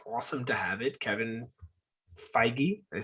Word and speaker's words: Feige: Kevin Feige, did I say it right?